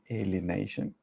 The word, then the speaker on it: alienation: It's part of the alienation. I studied how to pronounce that word, alienation, because in Spanish is alienación.